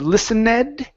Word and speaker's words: listened: next one here is listen instead of listened take out that e listened listened Okay so Maria listen